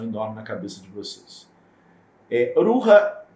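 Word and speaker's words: Rukha: Existe, descendo um pouco mais, o Ruha, pronuncia-se Ruha, se escreve R-U-K-H-A. Esse KH tem som de R, né? Como se fossem dois R's. Ruha.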